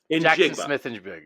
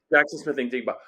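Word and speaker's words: Jaxon Smith-Njigba: How do you pronounce that? Jackson Smith and Jigba. Yep. Jackson Smith and Jigba.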